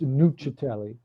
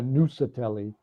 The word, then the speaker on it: Nuccetelli: In Italian it's nutelli, but uh we we Americanized it somehow. So it turned into Nusatelli, but either way is correct.